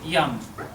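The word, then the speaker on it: yam: My favorite would be yum, yummy, because yum is the heart. Y-A-M.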